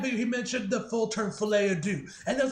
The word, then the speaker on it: Folie à Deux: anyway in that video he mentioned the fullterm filet ad do and I was like oh that's how it's pronounced but yeah man honest now you guys